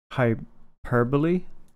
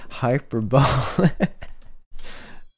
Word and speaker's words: hyperbole: like uh last year learned that um what word was it hyperbole is pronounced like that previously I've been saying hyperbole I've been looking like